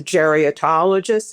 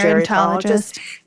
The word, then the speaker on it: gerontologist: before and I picked one who is a geriatlogist. Is that how you pronounce it? Gerontologist.